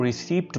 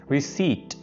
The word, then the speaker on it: receipt: अब बहुत से लोग इसको रिसीप्ट बोल जाते हैं, पी प्रोनाउंस करते हैं, जो कि बिल्कुल गलत है। रिसीट, पी आपने बिल्कुल प्रोनाउंस नहीं करना, ये रसीद को कहते हैं।